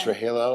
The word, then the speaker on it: Trujillo: Trujillo. I always pronounce his last name wrong.